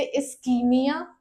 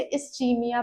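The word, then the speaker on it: ischemia: तो इसके दो प्रोनाउंसिएशन है। कुछ लोग इसे इसकीमिया प्रोनाउंस करते हैं। कुछ लोग इसे इस्चीमिया प्रोनाउंस करते हैं। ओके? दोनों ही करेक्ट है।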